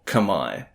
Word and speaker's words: Khmer: eventually become known as the K or kamay to pronounce it more accurately living in and around